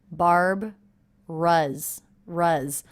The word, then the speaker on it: Barbara's: shredded oats with milk I noticed that Barbara's is only two syllables even though it looks like it might be three we sort of leave this middle sound out here barb rus-rus also note this apostrophe s is a Z sound that's because the sound